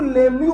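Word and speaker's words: Lemieux: साला ई भी साइलेंट, साला एक्स भी साइलेंट। अबे सपने में आया था क्या मेरे? कि ये साइलेंट होगा। इसको लेम्यू पढ़ा जाता है।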